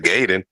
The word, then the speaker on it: Gaiden: So, I don't think you said it right, Gaiden.